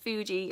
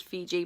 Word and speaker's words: Fuji: It's pronounced Fuji. I thought it said Fiji, but it says Fuji green tea, with hand-picked green tea leaves from the Mount Fuji region of Japan.